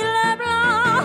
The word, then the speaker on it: LeBlanc: It's Dominique LeBlanc, not Dominique LeBlanc, because Dominique LeBlanc is English, not French. It's Le instead of Lay, Blanc instead of Lay.